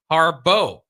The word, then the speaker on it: Harbaugh: Offensive coordinator Greg Harbo, not related to the Harbaugh, though it is spelled like Harbaugh. Goes by Harbo.